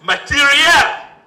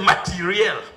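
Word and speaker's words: materiel: They pronounce it as material. when I pushed the generals who had accompanied the minister, that was the pronunciation they offered. They said material.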